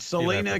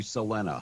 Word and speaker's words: Selena: do say Selena. It's really pronounced Selena. No, she really pronounced it Selena. No, but the proper name is Selena. She's from Texas, and she pronounced it Selena. So however she pronounced it is how it's pronounced.